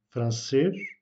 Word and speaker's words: français: E ou l'accent circonflexe, l'accentuation pardon, est faite sur le E, donc français, la dernière syllabe.